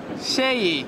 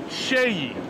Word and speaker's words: SEYI: Enrique all he do good how do you pronounce the name sh say that again Shay Shay yeah note that Shay right yes the best brand for presses there